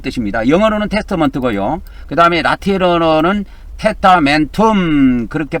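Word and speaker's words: testamentum: 그다음에 라틴어로는 테타멘텀 그렇게 발음하면 됩니다.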